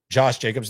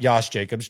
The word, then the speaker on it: Josh Jacobs: Hard Jay there. Josh Jacobs. Not Yos Jacobs.